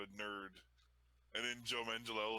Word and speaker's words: Manganiello: I mean, Manganiello is how it's pronounced. That's how he pronounces it anyway.